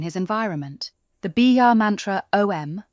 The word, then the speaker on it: Om: The Biya mantra Om, pronounced Aum, will help balance his intuition and calm the mind.